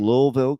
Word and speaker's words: Louisville: but probably not uh like I grew up with Louisville but I have to learn how to put that invisible L into the word okay uh but the